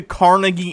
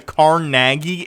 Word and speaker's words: Carnegie: All this stuff here's a Did he just say the Carnegie Institute as the Caraggi Institute?